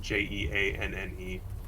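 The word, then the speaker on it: Jeanne: off looking normal who was this again uh it's spelled j-e-a-n-n-e jean jean uh she's the fortune teller and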